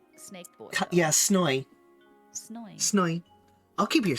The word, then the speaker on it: Snoy: Snoy. Yeah, it's pronounced S-N-O-I. Snoy. Snoy.